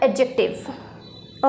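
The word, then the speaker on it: adjective: Next adverb, एडजेक्टिव, यहाँ पर जो ए और जे के बीच में जो डी लेटर है उसको हम प्रोनाउंस नहीं करेंगे, यहाँ पर इसको बोला जाएगा एडजेक्टिव। ओके, नेक्स्ट है प्रेपोजिशन, कंजंक्शन, इंटरजेक्शन।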